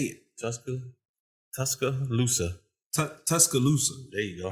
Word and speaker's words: Tuscaloosa: Tuscaloosa. Tuscaloosa. There you go. I don't know why I want to put another C on the end of that.